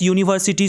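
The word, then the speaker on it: university: जैसे यूनिवर्सिटी को हिंदी में लिखोगे तो यू से होगा, आप यहाँ पे यू वॉवेल देख के मत एन लगाना, यह एक व्यंजन वर्ण है जिस वजह से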